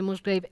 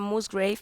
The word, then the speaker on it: Musgrave: Se pronuncia Musgrave, pero Musgrave. en España y aquí solemos decir Musgrave.